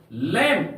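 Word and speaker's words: lamb: दूसरा एग्जांपल लेते बेटा लम एल ए एम बी यहां पर एल ए एम बी बी का उच्चार नहीं करेंगे हम लोग पढ़ेंगे लम लेम का अर्थ होता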